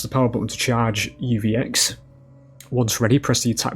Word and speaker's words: UVX: it I tried to say it as literally oix when it's just uvx so the power ladies and gentlemen as we